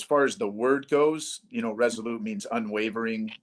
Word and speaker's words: Resolute: Do I pronounce it right? Resolute?